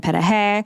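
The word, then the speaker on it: пироги: cabbage rolls and borscht and petahe which is pierogies ukrainian pronunciation and so i did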